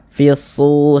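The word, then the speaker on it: فِي الصُّورِ: Jadi dari fi langsung masuk ke huruf shad ini, fisu, seperti itu.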